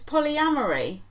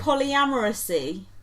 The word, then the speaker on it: polyamory: It's polyamory. What did she say? Polyamoracy. Well... Like supremacy.